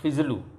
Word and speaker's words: Faziliu: वो जो टोनी फेस्टन फिजलू है, तो एक्चुअल हमारे यहाँ के जो फजलू होते हैं वो नाम तो हम तो फजलू ही कहते थे और वो समझ भी जाता था, लेकिन उसकी स्पेलिंग अलग है। वो FAZILIU फिजलू लिखता था, पूरा नाम था उसका फेस्टन फिएस्टा फिजलू।